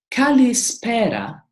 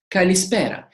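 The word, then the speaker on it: καλησπέρα: Mara is good day kalispera is good evening so case Paris's kalispera and always look at this dress accent distress accent tells you how to pronounce and where to stress the word Callie's para kalispera and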